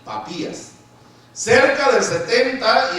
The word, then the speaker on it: Papías: Había otro que se llamó, a ver si lo pronuncio bien, se llamó Papías, o Papias, no, porque el acento es en la I, Papías, cerca del 70 y al 155.